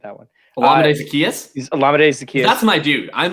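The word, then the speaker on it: Olamide Zaccheaus: He's Olamide Zacchaeus.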